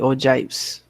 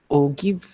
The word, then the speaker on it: ogive: So that's how we create the ogives. Others would call it ogive, but we'll be pronouncing it as ogive.